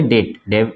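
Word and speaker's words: debt: पढ़ेंगे दे क्या पढ़ेंगे डेट डेबिट नहीं डेट ठीक है इसको डाउट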